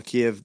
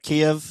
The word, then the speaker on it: Kiev: I think the mayor of Kiev, is that how you say it, Kiev?